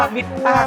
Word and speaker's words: MITTA: มั้ย ฮ มิตต สตูดิโอ มิตตะ เป็น คำ ตอบ ที่ ผิด นะ ครับ อ่าน ว่า มิต้า สตูดิโอ ครับ ผม Studio ครับ ผม